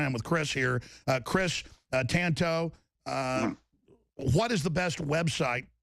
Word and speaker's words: Tanto: The reason I made it Tonto, a T-A-N-T-O, because I'm Mexican, Spanish. If it's T-O-N-T-O, Tonto, that means fool. So say it, Tanto, no big deal.